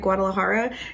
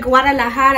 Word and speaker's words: Guadalajara: place here called Taqueria Guadalajara, and she was like, that is not how you say it. She was like, Taqueria Guadalajara.